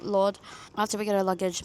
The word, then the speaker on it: Lourdes: We always just say Lourdes, but that's not how it's properly pronounced, but Lourdes.